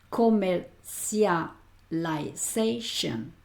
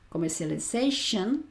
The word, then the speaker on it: commercialization: Cuando tengas una palabra así, fíjate, vete por partes porque no es fácil de pronunciar, ¿eh?